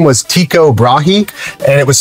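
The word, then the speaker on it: Tycho: His name was Tiko Brahi and it was spelled like this. T Y C H O Brahei. Uh Tiko is the correct pronunciation.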